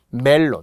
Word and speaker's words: 멜론: 자꾸 일본식 발음에 받침이 없는 일본식 발음에 표기 약간 익숙하다 보니까 메론 이렇게 하다 보니 그렇게 굳어진 것이기도 하거든요. 단 우리는 무조건 멜론이어야 합니다.